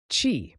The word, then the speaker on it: qi: Chi, pronouncedqi, is the fundamental concept in traditional Chinese medicine.